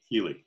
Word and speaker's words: Keeley: And I didn't even ask, is it Keeley? Is that how you pronounce it? Yeah. Keeley, yeah.